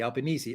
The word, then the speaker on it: Albanese: jungle jin says uh pronounce albinis to rhyme with easy albanese ah okay your prime minister of